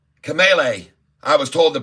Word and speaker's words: Kamala: And I support fully Kamala, or what's her name? Kamala. I was told the pronunciation.